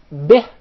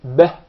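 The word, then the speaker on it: بِهِ: It's commonly mispronounced to be به. If you notice, the كسرة is with a smile, به, but when you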